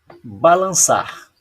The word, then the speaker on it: balançar: Quando a palavra não tem acento e ela termina em R ou L, a sílaba tônica é a última?